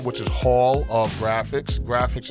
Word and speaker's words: GraFX: Graphics is spelled unique, so it's HALLOFGRAFX. So graphics is GRAFX.